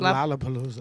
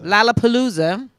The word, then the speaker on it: Lollapalooza: Is that how you pronounce it? Lollapalooza. Lollapalooza.